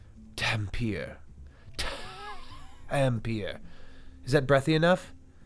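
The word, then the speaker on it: Dhampir: Thank you for spelling it phonetically. Dampier.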